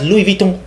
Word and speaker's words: Louis Vuitton: Nigga, excuse me, that ain't Louis. He's gonna excuse me, that's Louis Vuitton. Exactly. You're pronouncing it wrong.